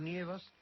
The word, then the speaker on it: nieva: O tú lo nievas, él no nieva. Así que siempre que el acento caiga en el radical, sí, pues pronuncie usted ye en lugar de e, de ne.